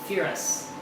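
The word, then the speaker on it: Firas: First syllable sounds like fe. Second R A S rhymes with bus. Firus.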